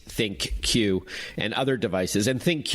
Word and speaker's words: ThinQ: the key differentiators between the LG g 8 think cue and other devices and thank you we should tell our listeners is spelled thi n cue and that's a name